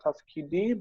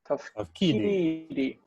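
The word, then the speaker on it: תַּפְקִידִי: Just notice the accent on this one. It's not tafkidi, but tafkidi.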